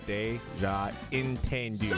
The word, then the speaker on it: Dejan Tendu: I always say it wrong, but he told us how to pronounce it. He said, it's Dejan Tendu.